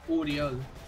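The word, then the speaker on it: Oriol: O-R-I-O-L. Pero se pronuncia Furiol.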